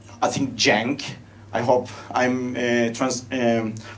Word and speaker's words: jank: are called I think jank I hope I'm pronouncing it correctly it's like J a and cake so it should be jank and so basically for